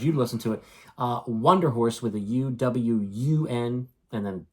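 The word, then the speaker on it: Wunderhorse: Wonder Horse with a U-W-U-N, and then Der Horse, as you would think is spelled, Wonder Horse.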